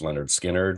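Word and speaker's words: Lynyrd Skynyrd: by the Allman Brothers Leonard Skynyrd's pronounced Leonard Skynyrd which is you know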